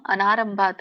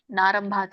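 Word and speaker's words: ಅನಾರಂಭಾತ್: ಇವಾಗ ಹೇಳಿದ್ರಲ್ಲ ಅವರು ಕರ್ಮಣಾಂ ಅನಾರಂಭತ್ ಅಥವಾ ಕರ್ಮಣಾಂ ನಾರಂಭಾತ್ ಅಂತ ಹೇಳಿದ್ರಿ ಅಲ್ಲಿ ಅ ಹಚ್ಚಬೇಕು ಯಾರು ಹೇಳಿದ್ರಿ ಗೊತ್ತಿಲ್ಲ ನನಗೆ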